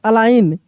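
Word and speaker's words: align: Resign लेकिन जी का उच्चारण नहीं कर रहे हैं। अलाइन एल आई जी एन अलाइन सी ए एम पी ए आई जी एन कैंपेन क्या पढ़ रहे हैं?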